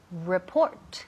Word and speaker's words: report: A report. El énfasis cae en la segunda sílaba.